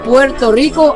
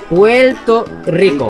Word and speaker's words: Puerto Rico: Cuando yo digo Puerto Rico, así lo pronuncio la palabra, pero ustedes lo dicen un poco diferente. Puerto Rico. Puerto Rico. Puerto Rico. Como casi como un L.